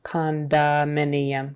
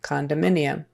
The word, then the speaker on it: condominium: when we say the whole word condominium it kind of becomes an a sound condominium condominium condominium we still haven't